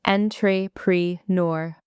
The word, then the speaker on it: entrepreneur: Many people say entrepreneur. The correct way is entrepreneur. Stress the last syllable. It comes from French.